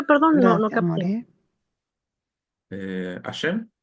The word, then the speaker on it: Hashem: ¿Y cómo se pronuncia? Perdón. No, no. Eh, Ashem. Ashem.